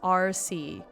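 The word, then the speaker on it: àrsaidh: Oh, it's pronounced RC. Oh, okay, so actually not that bad. RC. But do I put the emphasis on the first syllable or the second syllable? RC sounds better than RC, so I'll call them the RC.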